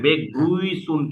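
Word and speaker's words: Begrüßung: বেগ্রুইসুন, এই শোনেন, হ্যাঁ, বেগ্রুইসুন কিন্তু এটা, বেগ্রুইসুন।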